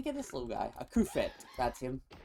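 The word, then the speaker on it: Cufant: A Kufet. That's him. I don't know why I keep calling him Cubfan. I've called him that forever. It's one of those weird mispronunciations.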